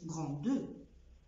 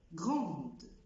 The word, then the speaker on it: grande: اكزامبل تاني، ادجكتيف او صفه غراند، غراند ما بقولش غراندو، grande.